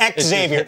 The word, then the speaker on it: Xavier: It's just X Xavier. It's X. You pronounce the X.